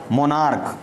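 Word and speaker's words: monarch: ऐसे हम कोई भी कहते हैं मोनार्क, क्या कह देते हैं, कॉमा, एक एग्जाम्पल और देख लीजिए, जैसे मोनार्क, तो यहाँ पर हम ओनली ईएस न लगा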